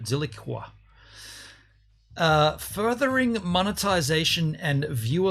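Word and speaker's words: Zilliqa: by zig zilli silica that's the hard word to pronounce because usually a queue has a u after it zilikwa uh furthering monetization and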